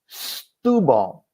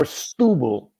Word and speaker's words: Setúbal: So you're going to pronounce it as you would an S in front of a vowel. So it'd be S, not sh.